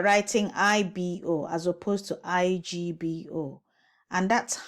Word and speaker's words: Igbo: So IBO is wrong. Igbo is wrong. Igbo is right. B. It has to have the GB sound.